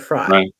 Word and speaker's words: Frey: name Amber fry fre I think it's fry I think she pronounces it fry but yeah Amber she